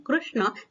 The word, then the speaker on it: कृष्ण: कुछ लोग श्री कृष्ण कहते हैं, कुछ लोग श्री कृष्ण कहते हैं, परंतु संस्कृत का उच्चारण है उसमें कृष्ण, ये सही है, दोनों सही हैं, परंतु संस्कृत से ये तत्सम शब्द आया है इसलिए कृष्ण इसका उच्चारण करना चाहिए।